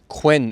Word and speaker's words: Quinn: Quinns and it was spelled q i n n the way you would expect but they pronounced it Quin because there's some records that where it's written down as Queen so obviously they've said my name is Queen and someone's written q e e n but it was actually